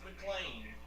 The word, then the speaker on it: McLean: McLean uh sorry Paul it's pronounced McLean McLean County yeah you're uh slowing